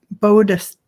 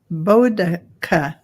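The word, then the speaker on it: Boudica: And we just got somebody telling us how to pronounce it's Bodica. Bodica. That's how it's pronounced according to Carolyn Booker. Bodica.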